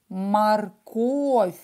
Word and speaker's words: морковь: пишем и так это слово морковь произносим морковь ударение на о или морковка правильно или